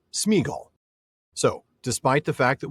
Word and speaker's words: Sméagol: Tolken didn't pronounce it smeagall, even though that's apparently the proper old English pronunciation of it. If you listen to any of Professor Tolken's recordings in the JRR Tolken audio collection, wink wink, which you should, I make that really clear, you can hear him very clearly say Smeaggel.